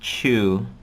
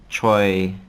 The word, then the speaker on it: Chiu: For me, my last name is Chiu, pronounced Chiu, and of course people would get that mixed up as well. Choi, whatever. They would just kind of